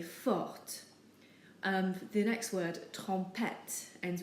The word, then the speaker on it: forte: But if we're describing a girl, we have to add an E to the end. And now we do pronounce the T, so we say forte.